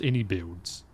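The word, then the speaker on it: iniBuilds: Oh, so it is pronounced inbuilds and I can barely hear it.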